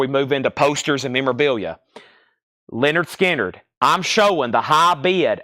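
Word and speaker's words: Lynyrd Skynyrd: is Leonard skinnard pronounced Leonard skinnard Leonard skinnard pronounced Leonard skinnard it's on the OG first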